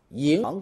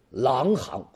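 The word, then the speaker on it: 银行: 国人呢，很容易把银行这两个字啊给读错，要么就读成狼行，要么就读成狠行啊。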